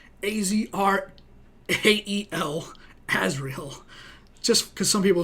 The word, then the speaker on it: Azrael: And, yeah, once again, my name is Azrael, A-Z-R-A-E-L, Azrael.